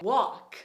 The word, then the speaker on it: walk: Como eu disse pra vocês, o L em algumas palavras a gente não vai pronunciar. Ele é mudo.